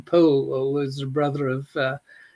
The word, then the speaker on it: Powell: adviser was charles poole who pronounced his name paul or was the brother